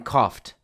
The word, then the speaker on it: cough: kicked, and the in coughed. Now, keep in mind that cough has a very irregular spelling. O U G has many different pronunciations, but in this case, the gh has an F sound.